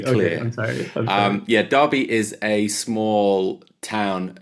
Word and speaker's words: Derby: So it might have an E in it, but it's pronounced Derby, just to be clear. I'm sorry. Um yeah, Derby is a small town.